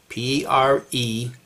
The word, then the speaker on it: preterism: The theological term for this doctrine is called preterism, P-R-E-T-E-R-I-S-M.